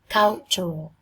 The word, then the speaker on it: cultural: Cultural. Chữ này chữ từ nhưng các em đọc thành âm trở. Các em nhìn phiên âm quốc tế nhé, âm trở.